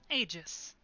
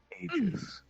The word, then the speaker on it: Aegis: Hire group known as, I don't want to mispronounce it. Aegis. Aegis.